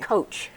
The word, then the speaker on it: COAACH: to see you and I think you call it coach we do we call